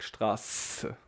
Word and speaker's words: Straße: So this is pronounced like we say it also in German, sharp S. So we say like really like Straße, very sharp one, like snake.